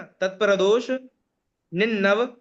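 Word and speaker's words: तत्प्रदोष निह्नव: देखिए, तत्प्रदोष निन्नव, शब्द ध्यान से सुनिएगा, उच्चारण है ना, तत्प्रदोष निन्नव, तत् को अलग कीजिए।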